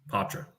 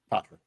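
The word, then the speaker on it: Poitras: Patra. Patra.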